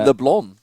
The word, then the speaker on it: Leblanc: Actually, they call it Leblon. I think they don't even pronounce the C if I recall.